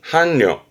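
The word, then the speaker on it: 伴侶: 발음은 한려, 한려.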